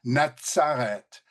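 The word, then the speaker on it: נצרת: have the tzaddik, and it's the tzaddik that gives us that pronunciation of Natsareth, and the Z up here for Nazarite gives us the pronunciation Nazir.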